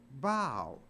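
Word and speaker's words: bough: but it's not pronounced buff it's pronounced bow so even O A. And there the O U G H is pronounced like a long O.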